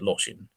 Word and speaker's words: Lortian: I don't know if that's how it's supposed to be pronounced, but I pronounce it Lortian.